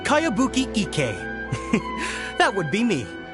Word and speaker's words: Kayabuki: a really strange name who's this cowabunga it's pronounced kayabuki ek that would be me outlander brigade is